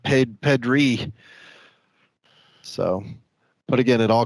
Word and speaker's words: Pedri: That last guy you pulled, Pedro, nothing particularly special about him, but one of the hottest rookies in this is Pedri. It's actually pronounced Pedri.